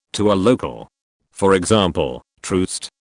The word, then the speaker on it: Troost: For example, Troost, pronounced locally like Truest, not Trost.